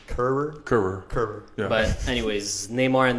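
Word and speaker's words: Kehrer: Keurig. So we were calling him Keurig the whole game. Well, I was, and everyone just kind of caught on to it. But I think the pronunciation is Kerr.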